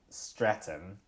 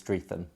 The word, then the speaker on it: Streatham: We're in my flat in uh Streatham uh which has a ham at the end, although you don't really pronounce the easily mispronounced as Stretham.